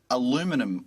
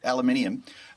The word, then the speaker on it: aluminium: For instance, there are currently tariffs on steel and aluminum, I believe, is how Americans say it. Uh, aluminum, you got it right. Okay, great. aluminium.